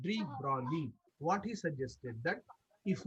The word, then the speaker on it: de Broglie: G is silent here. It is called de Broglie.